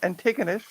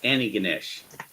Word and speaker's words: Antigonish: used to call it antigonous no it's you don't pronounce the first te it's anig Ganesh yeah I know I